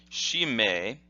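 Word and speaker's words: 締め: Here are the hiragana for those kanji, and the first kanji would be pronounced shime, shime, and then the second kanji would be te.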